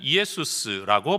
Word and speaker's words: 이에수스: 이 이름이 헬라어로 넘어올 때는 이에수스라고 발음이 되어집니다.